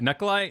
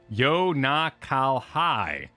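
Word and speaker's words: Unukalhai: Knuckle-Eye is a dual star in the constellation Serpens, pronounced Yo-Na-Kal-Hai. Knuckle-Eye has bothered me every time you say it.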